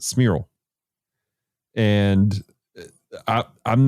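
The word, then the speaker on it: Cmiral: c-m-i-r-a-l i apologize for oh smirl that's how you pronounce it smirl and i i'm not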